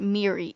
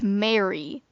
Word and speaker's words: Mary: form an alliance also the mop girl's name isn't miri it's mary you just pronounce it weird in the show at